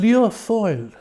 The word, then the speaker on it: Lia Fáil: So give us a pronunciation again of the Gaelic. On Lia Fáil.